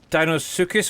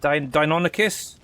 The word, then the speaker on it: Deinonychus: So these Dinosuchus, what you want to pronounce these guys, Deinonychus.